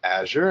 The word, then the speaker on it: Azure: might wonder how do we pronounce it it's pronounced Azure and it gets its name from the beautiful